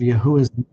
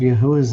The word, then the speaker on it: Yahuwah: The Wa is the vowel letter sound U. It is not pronounced as the constant W, since the Hebrew Aleph Beth does not have a letter to correspond to our W. The letter W was first appeared in the 13th century. It should not be thought of as a double anything. It is simply a U. So now we have 2 syllables, Yah plus U.